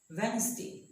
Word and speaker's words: Wednesday: sandwich it is not that nasty it is Wednesday there are lots of silent in English normally